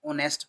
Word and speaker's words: honest: There was एन ऑनेस्ट H silent होता है इसमें ऑनेस्ट पढ़ा जाता है ऑनेस्ट शॉपकीपर वंस एक बार की बात है।